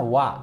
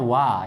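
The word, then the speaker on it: は: Jadi partikelnya wa ya. Tapi tulisannya pakai ha. Cara bacanya wa ya, agak bingung.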